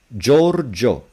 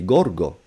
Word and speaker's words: Giorgio: Giorgio, the I is there. Otherwise, it would be Gorgo.